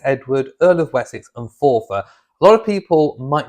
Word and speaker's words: Forfar: Now it's spelt F-O-R-F-A-R. Most people might pronounce it as Forfar. It's not Forfar. It is pronounced as Forfar, as if it was spelled F-O-R-F-E-R, Forfar.